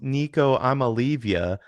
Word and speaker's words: Nico Iamaleava: First of all, his name is pronounced Nico Iamaleava because that's what he does. He leaves you.